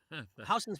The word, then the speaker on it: Houston: Houston's pronounced Houston, unless you're Sam Houston.